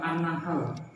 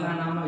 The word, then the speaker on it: An-Nahl: dalam Alquran di dalam surat an-nahl bukan annaal ya Pak kalau anda mengerti